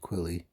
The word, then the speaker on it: Quily: a ghilly suit and Gilly rhymes with quilly so I've got a